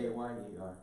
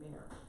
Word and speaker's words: Bayer: B-A-Y-E-R. I would do that. But that's a German name too, Yeah. so. Yeah, You want to there's people in Ron's family that pronounces their last name Bear.